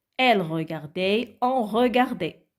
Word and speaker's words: regardait: Et ça devient il regardait, elle regardait, on regardait. Et le T à la fin ne se prononce pas.